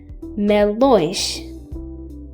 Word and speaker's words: melões: Melões, melões, which means melons. You can notice a slightly nasal sound when pronouncing these words.